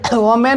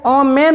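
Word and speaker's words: women: वूमन पढ़ना है इसे वमन नहीं पढ़ना है इसे वुमन पढ़ना है अब यहां पर देखिए डब्लू ओ एम ई एन इसे ओमन नहीं पढ़ना है विमन पढ़ना है इस तरह जो है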